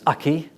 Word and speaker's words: acquis: Um there's a word here that um acquis which the lawyers always pronounce aki.